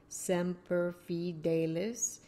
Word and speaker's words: Semper Fidelis: If you look down, you see how to pronounce that. Semper Fidelis.